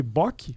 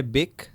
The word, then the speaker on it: Böck: Mas então, a pronúncia é Beck, como se fosse com E, porque o O é tremado.